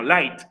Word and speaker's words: light: En la GH, en las palabras con GHT, no se pronuncia. Solamente se pronuncia la pura T.